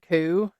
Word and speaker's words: coup: is that word because it's spelled Coupe yeah and so I had to like I Googled it and I was like oh so I had to put in parentheses KO o so that I would